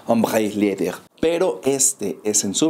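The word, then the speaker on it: Ombré: hombre Leather o bueno tratando de imitar un poco la pronunciación en francés hombre Leather pero este es en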